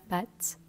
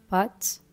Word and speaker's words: pâte: Moi, je vais le prononcer très ouvert, la pâte. D'autres le prononceront de manière plus fermée, pâte. Je sais pas le faire parce que je suis pas du tout habituée à prononcer ce mot comme ça. Mais voilà, les deux existent.